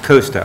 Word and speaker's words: Costa: I keep saying your name wrong. It's Costa.